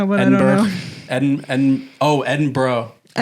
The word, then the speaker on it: Edinburgh: Ed Oh, Edinburgh. Edinburgh. Yeah. They they always say just sound like you're saying bruh. Edinburgh.